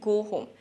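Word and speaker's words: go home: Pronunciation টিপ, আমরা অনেকে বলি গো হোম, কিন্তু উচ্চারণটা আসলে গো হোম। এই দুটো শব্দেই ও এর পরে শেষে ছোট্ট করে একটা উ সাউন্ড আছে, গো হোম, গো হোম।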